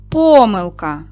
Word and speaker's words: помилка: Помилка на перший склад.